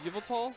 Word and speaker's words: Yveltal: I just don't know how to pronounce it. Oh, which one? Yveltal?